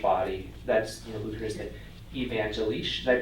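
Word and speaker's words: evangelisch: for the church body that's you know luther evangelish. Did I pronounce that roughly right Dave? Evangelish.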